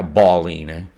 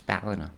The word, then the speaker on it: Ballina: B-A-L-L is pronounced ball. Yeah, Ballina. It's Ballina. Ballina.